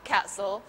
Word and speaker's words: castle: Castle. ถ้าไม่มีเสียงทีเลยอะค่ะ Castle.